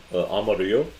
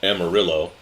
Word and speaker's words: Amarillo: Well, if you're in Texas, you would call it Amarillo, but that's not how you say it.